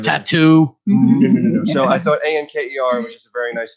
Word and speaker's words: Anker: Anchor with the K. Yes, Anker. Police.